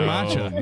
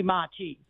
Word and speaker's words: matcha: I say I say you're pronouncing it wrong it's actually matcha and you're like no it's totally Machi it's totally Machi that's